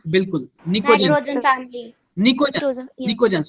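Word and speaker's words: pnictogen: निकोजन वो पी P silent होता है।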